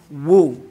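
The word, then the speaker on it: وُ: So wow, fatha, wa, wow, kasra, we, wow, dhamma, woo, okay? We have Wu-Tang. We know that sound from the 80s.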